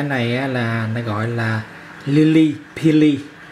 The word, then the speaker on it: Lilly Pilly: Tiếng Anh của trái này là nó gọi là Lily Pili, đánh vần là L I L L Y, Pili là P P phở I L L Y, đánh vần phát âm là Lily Pili.